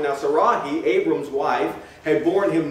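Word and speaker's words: Sarai: But we know that when Abram is 85 years old, Sarahi is how you would pronounce this, according to the dictionaries.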